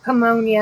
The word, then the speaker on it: pneumonia: Brian said I had the one with the P.